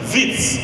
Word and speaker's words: Wits: Wits, University of Wits, Witwatersrand, pronounced WITS, was established 121 years ago.